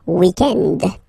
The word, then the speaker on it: weekend: weekend okay but then pronounce it the French way weekend the weekend okay but then in